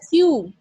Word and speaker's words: queue: Q-U-E-U-E. It is pronounced as Q.